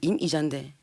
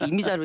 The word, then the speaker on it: 임이자: 여기 이미자가 아니고 임이자인데. 그러니까 발음이요. 예. 임이자 이렇게 해야 됩니까? 그렇죠. 예, 그렇게 해주셔야지. 막 이미자로 이렇게 하면 그러니까 저기 지역구 가면은요 동백아가씨 노래를 많이 부르라 해요.